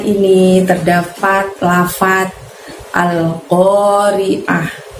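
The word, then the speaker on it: القارعة: Al-Qari'ah ini terdapat lafaz Al-Qari'ah. Pengucapannya pendek semua kecuali pada saat kita mengucapkan oh. Ingat, oh di sana qaf fathah, jadi ucapkan atau bunyikan suara ko-nya dari pangkal lidah kita hingga menyentuh langit-langit. Al-Qari'ah.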